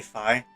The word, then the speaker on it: Fi: I pronounce it Fee, but some say Phi, but I always said Fee, is the name I was given.